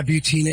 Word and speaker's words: Butina: redhaired gun Mall yeah butina and it rhymes with subpoena it does very good